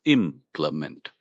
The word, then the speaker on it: implement: It's pronounced implement. The stress is on that first syllable.